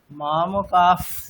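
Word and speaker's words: मामकाः: উচ্চারণ করলে যেরকম হয়, অর্ধেক ফকার মানে কিরকম, মামকাফ পাণ্ডবাশ্চৈব, ঠিক আছে, মামকা পাণ্ডবাশ্চৈব। হ্যাঁ ওটা উচ্চারণ করুন মামকাফ, মানে একটা অর্ধেক মামকা পাণ্ডবাশ্চৈব অর্ধেক ফকার।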